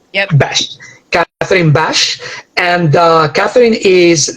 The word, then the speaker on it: Besch: Am I pronouncing it correct? Besch. Yep. Besch.